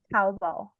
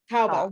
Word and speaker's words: Taobao: Taobao. Taobao. Taobao.